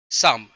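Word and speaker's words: Psalms: Poem letter day लेटरडे साम letter day साम मतलब पी यहां पे साइलेंट है।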